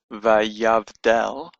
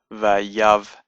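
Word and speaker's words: ויבדל: For example, this word here, vayavdal, the Sheva tells us that this is the end of the syllable, vayav, and that the next letter after this is the beginning of a new syllable, dal, vayavdal.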